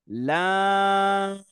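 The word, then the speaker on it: لام: তারপর next word, লাম। লাম একটু টান দিয়ে আমরা লম্বা করে উচ্চারণ করব।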